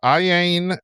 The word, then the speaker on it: Iain: I purchased Iain How do you say his name? It's Iain. I know it looks weird with the two eyes, but it's just Iain Banks.